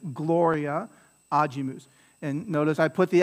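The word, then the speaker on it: agimus: anti-penultimate is it ajimus or ajimus so it's ajimus is it gloria or gloria right and it's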